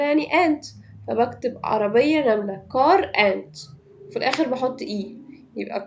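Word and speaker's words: quarante: كارانت انت.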